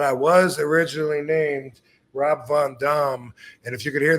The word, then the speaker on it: Van Dam: wrong all this time actually the real answer to that yes seriously the name that I was given was Rob Von Dam what y believe it